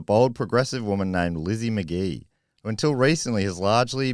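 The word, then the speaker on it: Magie: helped there but um it's spelled m-a-g-i-e which I would have pronounced Maggie yeah same I think I would just uh but anyway McGee even it's way better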